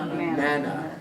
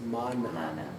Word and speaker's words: manna: Manna. Properly pronounced is mana.